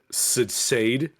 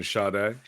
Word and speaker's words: Sade: Sam goody one time and she asked for Sade oh wow and I was like you mean shade yeah she's like no I mean she was